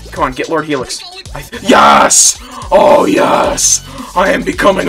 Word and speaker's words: YAOES: So Adam from A Heap of Games didn't know how to pronounce my name. So I told him it's YAOES.